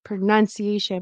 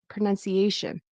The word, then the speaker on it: pronunciation: I thought I heard pronunciation but should be pronunciation like before the shin. It's Asian. This is stressed right before keeps full vowels.